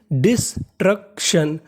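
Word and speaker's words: destruction: मैंने आपको बताया कि टी आई य एन को पढ़ना है श तो meaning डिस्ट्रक्शन डिस्ट्रक्शन डिस्ट्रक्शन डिस्ट्रक्शन का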